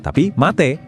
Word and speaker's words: mate: Jadi ngomongnya bukan mate, tapi mate.